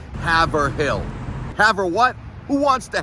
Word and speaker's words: Haverhill: I can't tell you how many times out-of-towners will say Haverhill. Haver what? Who wants to have a hill? It's not Haverhill, it's Haverhill. Haverhill, correct spelling, H-A-Y-V-R-I-L-L, Haverhill. Let's work on that, let's get it done.